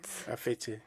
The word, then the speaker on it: Afetse: Comment on prononce votre nom, Afetse ou Afet? Afete. Afetse, Oui.